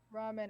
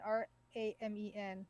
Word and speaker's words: ramen: r-a-m-u-n-e is ramune ramune and how do you pronounce ramen ramen r-a-m-e-n which is ramen ramen okay so eden wraiths eden wraith eden